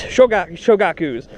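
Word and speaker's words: 小学校: So you're not there really to teach elementary school students, shogakus is how you say elementary school in Japanese.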